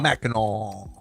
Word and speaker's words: Mackinac: Mackinac. Silent C. I miss the hard C.